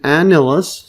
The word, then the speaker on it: annulus: So an annulus, see this pronunciation here?